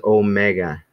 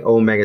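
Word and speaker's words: ωμέγα: little o and so this is supposed to be you're supposed to hold it a little bit longer than this one being a little bit shorter but other but other than that they're they basically pronounced the same so that's kind of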